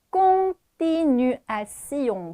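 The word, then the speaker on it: continuons: 꽁띠 뉴 아 용입니다 자 공에서 오앤 옹 이렇게 발음했던 그리고 맨 뒤에 있는 시용은 띠용 아닙니다 기본적으로 스용 이렇게 발음합니다 자 요거 한번 다시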